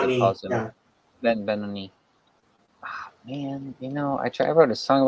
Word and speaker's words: Benoni: Ben Benoni. Ah, man, I wrote a song about that and I said it wrong the whole time in the song. Dang it. Should have asked you first, Benoni. Um, uh, but yeah, I